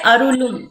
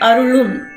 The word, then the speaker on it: அருளும்: Second la, basically when we say la, our tongue need to touch the upper jaw. So we should not say arulum, instead arulum, so that when we say la, your tongue will touch the upper jaw.